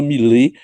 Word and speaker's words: Milet: Eu continuo pronunciando Millet com minha formação francesa, parisiense, eu acho que é Millet e não Millet, mas nós não vamos brigar por causa disso, viu?